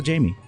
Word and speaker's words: Jaymee: jet set Jamie j a Jamie okay yeah but it's j a y m e e okay my parents were quite creative with the spelling of my name they sounded it out right it's phonetically spelled so you can't get it wrong although I still